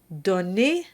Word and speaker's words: donnez: So, if we convert Duruflé's text to the second person plural, we'll see an -ez ending, and that's pronounced -e. Donne and pardonne become donnez and pardonné.